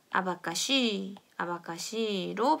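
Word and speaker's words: abacaxi: 근데 이것은 아바카시로 발음이 아바카시. 그러니까 시읒 소리가 난다고 생각해 주시면 되고요.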